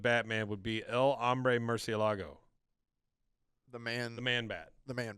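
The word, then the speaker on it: murciélago: Murcielago? It looks like Murcielago. but I know Therefore, that's a literal French. translation of Batman would be El Hombre Murcielago, the man bat.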